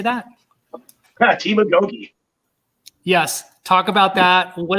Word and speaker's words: agoge: gay Gogi how do you say that team Agoge yes talk about that what is that word